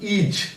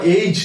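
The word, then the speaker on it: -age: সুতরাং শিক্ষার্থীরা, তোমরা লক্ষ্য করো, প্রথমটি ছিল AGE, এটির উচ্চারণ কিন্তু ইজ, বেশিরভাগ ক্ষেত্রে এটির উচ্চারণ এজ অথবা এইজ না, এটির উচ্চারণ ইজ।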